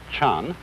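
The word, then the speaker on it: 禅: And that is the Japanese way of pronouncing the Chinese word Chan.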